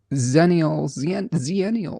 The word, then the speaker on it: Zennials: Zennials are closer to Gen Z. Xennials are closer to Gen X. They're both pronounced the same. It can be confusing. Zennials and Xennials.